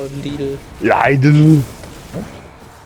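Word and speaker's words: Lidl: in Germany oh actually we pronounce it differently in Germany we call it leader yeah I do it's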